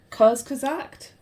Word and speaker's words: Kurzgesagt: I guess I was watching I think it's pronounced Kurzgesagt video on time and how time works, and